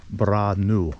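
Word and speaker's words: Brännö: told me it's pronounced branu branu all those little dots above the A and the O kind of change that pronunciation just a little bit so as long as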